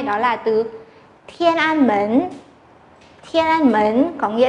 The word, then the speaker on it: 门: Mến này âm Hán Việt là môn.